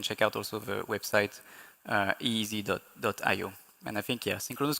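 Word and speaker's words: EEZ: It's pronounced easy, e e z.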